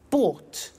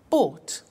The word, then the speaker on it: bought: to the pronunciation by bought you notice that o-u-g-h-t is pronounced ought by bought come came do did